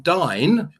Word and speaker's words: Dyn: You may remember in 2016, Dyn, I pronounce it Dyn or Din, whatever you want to do, now owned by